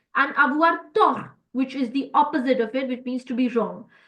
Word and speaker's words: tort: As you guys can see, I am not pronouncing the last T here, which is the T sound. We don't pronounce it.